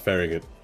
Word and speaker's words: Farragut: name it sounds weird but it's called It's pronounced Farragut and Glenwood you will find a building that